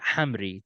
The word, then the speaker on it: Hamri: the entertainment industry please welcome the incomparable Hamry to growth Untold all right how you